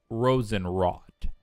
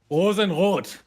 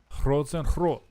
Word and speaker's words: Rosenrot: Rosenrot. Rosenrot. Yeah, it's more from the throat. The R.